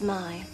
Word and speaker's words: May: names my name is ma it's spelled may but it's pronounced my can you remember that